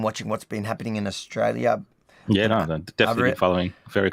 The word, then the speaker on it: Australia: And then she goes, "You never say the L I the L and the I Australia."